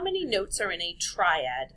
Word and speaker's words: triad: Number 1, how many notes are in a triad? That word is pronounced triad. Think about the word try. It means 3.